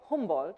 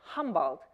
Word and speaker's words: Humboldt: help that I say Humboldt which I noticed that you also say homeworld instead of saying humbled which is the American Way of pronouncing it because if I would